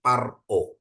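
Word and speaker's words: פַּרְעֹה: Ini P, ada dagesnya jadi P biasa bukan F ya. Jadi paro, artinya Fir'aun ya.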